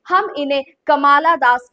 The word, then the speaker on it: Kamala: My Mother at 66 कमला दास ने लिखी है. Spelling first thing first note कर लीजिए, कमाला दास, KAMALA, नॉट कमला, कमाला दास. इट्स KAMALA, कमाला दास.